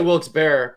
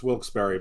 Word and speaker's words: Wilkes-Barre: Plaza in Wilkes but how do you pronounce it I say Wilkes-Barre but I think it's better I think I pronounce it wrong though because that's like an hour and a half from me for two hours for me I mean to the outside world it's wilkesbury but they do pronounce it definitely there but well I'll say Wilkes beard that aw was in